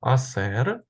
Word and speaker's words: hacer: роз глянемо так бачимо ось це дієслово аср пишеться через аче пригадуємо що воно не читається з Ось і давайте